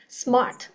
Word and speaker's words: smart: để mình đẹm vô nhưng ở đây mình không có chữ ơ nha mình chỉ là Smart mình chỉ có hơi gió ra thôi Smart đúng không Rồi